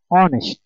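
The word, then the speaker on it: honest: থাকে সেক্ষেত্রে এন্ড বসে যেমন অনেস্ট এইচ এর উচ্চারণ হলো না এখানে ও এন ইস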